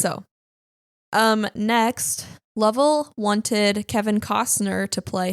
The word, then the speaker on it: Lovell: And am I saying that right? Lovell or Lovell or? Yeah, Lovell.